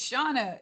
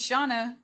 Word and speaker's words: Shana: thank you for asking it's shawna yeah am i hearing it wrong it's shauna that's what they're saying okay okay thank you for asking i appreciate that but i answered to all 26 very pronunciations of my name it's that's really not